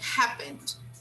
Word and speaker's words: happened: This word happened, we don't pronounce the final E, okay? This vowel, it's silent, okay? So we say happened, happened, all right?